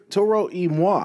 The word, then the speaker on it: Toro y Moi: Toro y Moi. Toro y Moi.